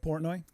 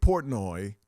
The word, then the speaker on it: Portnoy: He should spell it P-O-R-T-N-O-Y. That's how he spells it. Because that's how it sounds.